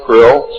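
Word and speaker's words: Krlll: His name and title was His Omnipotent Highness Krill, pronounced Krill, spelled K-R-L-L-L or C-R-L-L-L.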